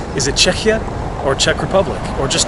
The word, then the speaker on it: Czechia: And one of the best explanations for that I've heard so far is that foreigners tend to mispronounce the word, and instead of saying Czechia, they say Czechia, which sounds dangerously close to Chechnya.